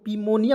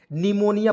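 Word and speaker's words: pneumonia: तो क्या पढ़ेंगे दोस्तों पीम निया पढ़ेंगे नहीं निमोनिया पढ़ते हैं क्या पढ़ते हैं मेरे दोस्त निमोनिया ठीक है निमोनिया आज की इस वीडियो के बाद पढ़ना है ठीक है निमोनिया नहीं पढ़ना है ठीक है और निमोनिया में पी हम लोग साइलेंट रखते हैं हमेशा ठीक है और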